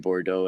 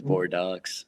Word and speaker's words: Bordeaux: We were pronouncing Bordeaux as Bordeauxs and I can't even